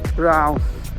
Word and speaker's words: BRAUN: เรา นะ ครับ พี่ r a u n อ่าน ว่า Brown Cafe and bistro ไม่